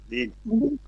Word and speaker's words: read: রিড এর past form রিড এর past form কি কে বলতে Read? পারবে? রেড। রাইট। রিড এর পাস্ট ফর্ম হচ্ছে রেড। বানানটা একই থাকবে, উচ্চারণটা পাল্টে যাবে।